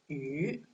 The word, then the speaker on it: 鱼: The pronunciation is 鱼.